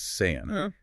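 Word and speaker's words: Seán: Take Sean versus San. Without the fada, Sean just means old. But you add that little mark, San, and it's the name John.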